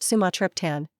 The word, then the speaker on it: Sumatriptan: Sumatript, pronounced sumatrian, is a prescription medication specifically formulated to treat acute migraine headaches.